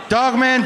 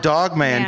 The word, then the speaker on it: Dog Man: the rest of the litter that is correct Dawg man to jog man to the wrath of the litter oh did I say it wrong yes you did call the damn dog it's called dog man to the wrath of the litter nah man